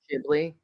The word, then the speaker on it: Ghibli: and it's Ghibli.